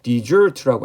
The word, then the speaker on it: desert: deserted 아라고 번역해야 되겠죠 우리가 이제 deser라고 읽으면 이건 이제 사막이고 명사로서 desert라고 엑센트를 뒤에 두게 되면 이게 버리다 뜻이 되거든요 던 하다라는 뜻이죠 어던